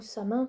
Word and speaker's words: Samhain: Samhain ou Samin pour ceux qui prononceraient comme ça.